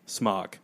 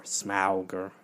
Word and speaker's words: Smaug: It's nothing is asked of Benedict Cumberbatch in this movie but to be Smaug or Smauger, you know, if you're Peter Jackson you want to say it wrong.